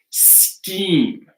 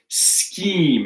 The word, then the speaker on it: scheme: Or we have scheme, right? Scheme.